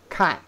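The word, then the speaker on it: 看: This was look, kan. Kan origin, yeah, is a fourth tone.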